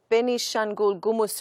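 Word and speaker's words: Benishangul-Gumuz: Now, at least 100 people were massacred by militia groups in Ethiopia's benishengul gumuz region yesterday. Sorry about the pronunciation.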